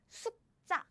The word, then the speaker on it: 숙자: But the pronunciation of this name is 숙자, 숙자, 숙자. So 짠, you see the air blocking sound, and 짠, this, this double sound.